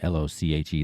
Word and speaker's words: Loche: It's @ryanloche, r y a n l o c h e. That's how you pronounce my name, by the way, Loche.